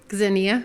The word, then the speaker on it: Xenia: of time talking about the whole concept of Xenia am i pronouncing that correctly zinnia zinnia thank you as a concept of hospitality